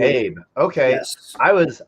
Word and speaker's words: sirsuhayb: So or Habe is just the longer version. Habe. Okay. Yes. I was like Hayab, Habe.